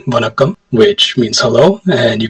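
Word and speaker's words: வணக்கம்: greet them, we say vanakkam, which means hello, and you can also say it when you're saying goodbye. Bonakkam? With a V, vanakkam.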